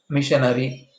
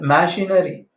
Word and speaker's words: machinery: Okay, being a stenographers, while you are pronouncing, you don't pronounce this as missionary.